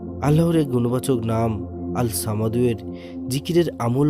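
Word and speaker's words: الصمد: আল্লাহর এই গুণবাচক নাম আল সামাদুয়ের জিকিরের আমল ও ফজিলত আপনাদের জানাবো। আল্লাহর এই নামের উচ্চারণ আল সামাদু, অর্থ তিনি কারো মুখাপেক্ষী নন, অভাবমুক্ত, স্বয়ং সম্পূর্ণ, সবাই তার মুখাপেক্ষী।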